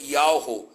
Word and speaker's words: Yahweh: Deus tirado do tetragrama Yud-Heh-Vav-Heh, que a pronúncia seria Yahweh.